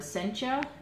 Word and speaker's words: Sencha: the mystic dragon and this is how to say this word Sencha sen CH a and